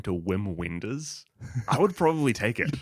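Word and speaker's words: Wim Wenders: Japanese movie directed by German director Whim Wenders.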